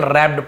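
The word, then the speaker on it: wrapped: उपहार रैप्ड यहां पर डब्लू आर है तो डब्लू साइलेंट होगा केवल रैप्ड पढ़ेंगे रैप्ड यानी लिपटा हुआ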